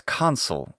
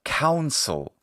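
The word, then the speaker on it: consul: Yeah, it's console. That was the point. Not council.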